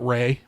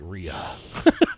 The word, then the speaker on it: Rhea: jimmy mcgill uh but her name is ray seahorn but she spells it r-e-r-h-e-a but she pronounces it ray which you could see okay but still when i see it and i read it i'm just like rhea he's like what a